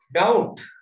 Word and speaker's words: doubt: Doubt. Doubt. D-O-U-B-T. Doubt can is second. Doubt meaning is second. Yes. B. Doubt කියන්නේ අපි. Doubt කියලා කියන්නේ. B is silent.